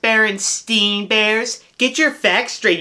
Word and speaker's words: Berenstain: Get in bed and I'll read you the Berenstain Bears. I hate those stupid bears. Plus, it's pronounced Berenstain Bears.